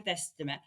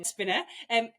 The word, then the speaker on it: Despina: So for the listeners, for meeting you for the first time, Despina, I said it wrong, Despina.